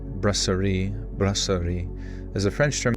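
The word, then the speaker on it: brasserie: Uh, the word brasier pronounced braseri.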